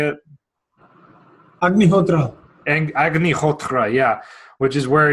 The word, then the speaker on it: Agnihotra: The Agni Hota? How do you say it? Agnihotra.